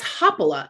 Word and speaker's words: Haapala: make sure that's right no it's hoppola actually so okay um you're pronouncing this is more kind of the hawaiian way and it's actually finished so um yeah yeah